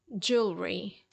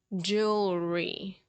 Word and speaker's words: jewelry: jewelry jewelry jewelry okay the sound of letter L comes right before the sound of letter R so jewelry jewelry jewelry